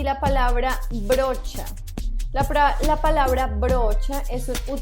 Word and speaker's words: brocha: Se escribe B-R-O-C-H-A y el sonido cha es fuerte, brocha.